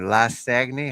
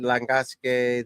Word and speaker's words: Langasque: Lasagny. How do you say his name? Langasque? Yeah, European Tour. Romain Langasque.